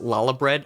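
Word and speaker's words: Lahabrea: elder daddy the pronoun the proper pronunciation is lala bread ah i see i see i see um so we kick out la habrea we actually managed to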